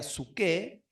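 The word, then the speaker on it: ψυχή: La palabra se escribe psuché, se leería psuké, o la más conocida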